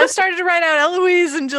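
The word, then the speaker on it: Héloïse: started to write out eloise into like okay silent h what what what silent h what right after she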